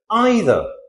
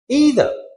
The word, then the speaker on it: either: British English, it is either. American English, either.